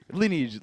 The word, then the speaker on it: lineage: Lineage. What I say? You said linebacker. Lineage is how you say that.